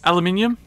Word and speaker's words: aluminium: and now if you take that eye out though it becomes aluminum which is how the Americans say and quite often spell it aluminum and you can't take